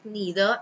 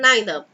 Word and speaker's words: neither: either anyone neither so you can pronounce either as both either and either and neither as both neither and neither nobody nobody is here